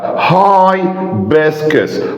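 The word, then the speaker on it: hibiscus: فرتلايزر اسمده طبيعيه وي هنا طبعا عندي البلز بننطق اللون ساون اللي هو الاي طيب هاي بسكس هايسكس اللي هو الكركديه او العناب كده هاي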